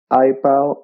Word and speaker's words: EyePal: want to clarify that it can be confusing with iPad, but it is spelled EYEPAL. Correct. Yes, you're right, because many persons are confusing between iPal and iPad. Yeah, but iPal like an I.